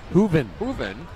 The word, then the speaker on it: Hooven: Hooven. Rhymes with nothing that Grooven. I know of.